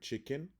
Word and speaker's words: chicken: You can see that the word chicken has the stressed syllable chick and the unstressed syllable N. In this case, the letter E is the schwa sound because you will hear it in English like chicken or chicken, right?